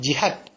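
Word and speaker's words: jihat: Bukan jihad ya, tapi jihad. Ejaannya J I H A T.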